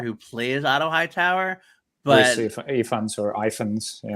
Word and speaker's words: Ifans: like the actor who plays Otto Hightower, but Ifans or Ifans, yeah. Right? He's great in the role. But I What's think the pronunciation? Is more powerful. Reese Ifans.